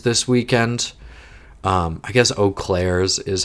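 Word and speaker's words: Eaux Claires: Um, I guess Oak Claire's is how it's technically pronounced, but me being a snobby person who at least speaks a little French is like the S is silent.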